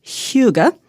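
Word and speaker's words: hygge: people are talking about the Danish idea of Huga spelled h y g g I had to look up the pronunciation CU otherwise I never would have guessed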